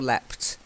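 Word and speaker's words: leapt: leaped or left okay so it sounds as though Americans might say leaped so it's up to you if you want to sound American carry on with leaped if you want some British say left okay actually it depends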